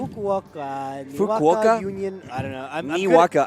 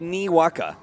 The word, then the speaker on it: Niwaka: saying that right somebody can somebody pronounce it out for me Wacka Wacka I know it's nee waka I'm good at uh